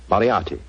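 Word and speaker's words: Moriarty: I'm afraid I'll have to begin calling it the way it looks. M O R I A R T Y. Moriati.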